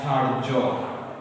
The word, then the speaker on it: ধার্য: যেমন ধার্য, যেমন কি আছে? ধার্য। আমরা অনেকে ধার্য শব্দটি দেখি ধার জফলা দিয়ে না। যখন রেফ কোনো বর্ণের উপরে থাকবে সেই বর্ণটির দ্বিত্ব দুইবার উচ্চারণ হবে না।